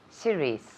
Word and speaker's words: series: say Syria serious series series yes repeat again series perfect I see so pronunciation here series series Okay C Reese series